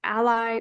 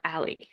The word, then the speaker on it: a11y: A11Y or A11Y is frequently pronounced ally or ally.